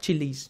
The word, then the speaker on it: Chili's: Is it Chili's or Chills? How do you say that? Chili's, yeah, Chili's, yeah.